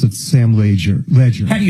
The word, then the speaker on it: Leger: On his voicemails, it's pronounced he pronounced it Sam Leger. Ledger.